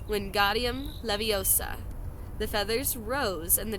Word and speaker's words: Wingardium Leviosa: "Wingardium Leviosa," he shouted, waving his arms like a windmill. "You're saying it wrong," Harry heard Hermione snap. "It's Wingardium Leviosa," making the nice and long.